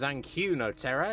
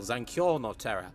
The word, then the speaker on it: Zankyo no Terror: By the way, I should mention, throughout this section I pronounce it as Zankyu no Terror instead of its actual title Zankyo no Terror, which means terror in resonance.